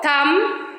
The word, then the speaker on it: thumb: If it comes after the letter M, like comb, thumb.